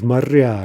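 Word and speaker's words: моря: Morya becomes marya, right?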